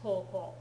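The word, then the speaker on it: 高校: Do not be deceived by the fact that they spell it K-O-O in the Romaji in this textbook. It should be spelled K-O-U, K-O-U, to be more accurate to how it's actually spelled in Japanese, koko.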